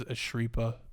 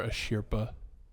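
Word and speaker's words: Asirpa: as as called so in the Japanese Stu I think they pronounce as asria but I don't know but for but for contact sake contact sake we'll call her a shirpa and uh yeah they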